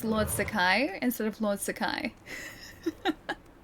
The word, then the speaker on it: Sakai: How would you pronounce Lord Sakai instead of Lord Sakai? Like Sakai like that like emphasis on the Sa part instead of the emphasis on the Kai part.